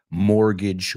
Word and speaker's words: mortgage: mortgage market. Let's pronounce that word. Es buenísimo que la palabra hipoteca empieza con muerte en latín, mort. Pero no se pronuncia así, la T es muda.